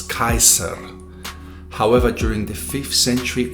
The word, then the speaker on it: Caesar: such as for instance the word caesar was originally pronounced as kaiser however during the 5th century ad it becomes cesar where the i becomes